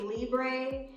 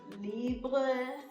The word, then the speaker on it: Libre: They say Libre, but I think it's a French label, so it's probably pronounced Libre. So this is YSL Libre, but since we're Americans, we say Libre, as if we're Mexicans.